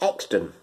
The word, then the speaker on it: Euxton: I will tell you it's a place called Exton which is spelled e-u-x-t-o-n okay so it's euxton but you're